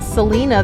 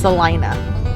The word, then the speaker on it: Salina: now in salina kansas i've been calling it selena this whole time so is blake but then we watched a video about this record place we're going to and it is pronounced celina so i had no idea but we're now